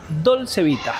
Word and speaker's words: Dolce Vita: Hoy vamos a ir al restaurante italiano que se llama Dolcevita. ¿Te pronuncia así?